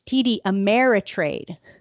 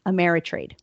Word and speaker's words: TD Ameritrade: And I I mispronounce it's TD Ameritrade. Trade. Yes. So not America. Not something easy. Amerit trade. Amerit trade.